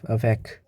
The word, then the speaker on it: avec: Also, we have exceptions for like Q, C, L. It's L, R, and F. Well, these letters, in the end, it does pronounce. Like for Q, we have cinq. This means 5. And for C, we have avec.